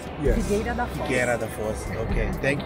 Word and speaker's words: Figueira da Foz: How do you pronounce the name of this place? Figueira da Foz. Yes. Figueira da Foz.